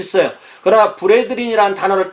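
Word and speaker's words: brethren: 그러니까 B-R-E-T-H-R-E-N. 그래야만 발음이 브레드린이 되겠죠. 그렇지 않으면, 만약에 이거 바꾸면 브레드르언 이렇게 돼버려요.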